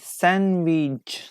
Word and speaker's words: sandwich: two number two sandwich so which later is not pronounced for number two okay waiting waiting for your comments waiting for your answers okay sandwich sandwich would you like to eat sandwich do you feel hungry I think yes everybody wants maybe some of you are fasting during Ramadan yes number two is d D is a correct answer